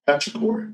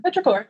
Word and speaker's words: petrichor: How do you say petrichor? Petrichor.